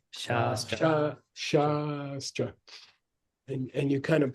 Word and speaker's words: Shastra: Shastra. Long A has two qualities. It has a, they call it in linguistics, it has a qualitative difference. Compared to a.